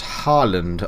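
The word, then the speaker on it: Haaland: the players scored it Earling but out Harland I want to say is how you pronounce his name and you know whose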